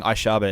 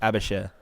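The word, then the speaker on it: Aebischer: Jaa gives it back I've been pronouncing it wrong this whole time I've been saying aaba it's abashir my apologies my apologies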